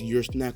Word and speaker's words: Ursnac: Even though it's spelled like your soul, because URSOUL, but this is ursnac, which is URSNAC, but it's not really snack.